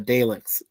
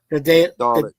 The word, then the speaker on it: Dalek: was uh you know blamed for creating the Dale. The what? What do you pronounce? The Dalek.